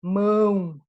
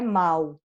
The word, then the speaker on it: mão: nasal é por exemplo mão eu sei que assim né que a gente já trabalhou fonética aqui a gente não vai para anunciar mal não é mal é mão eu vou pronunciar nasal tô fazendo entre parentes